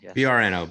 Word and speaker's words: Brno: it's in uh berno it's in bruno you pronounce it bruno b r and um brno brno um just a just a beautiful little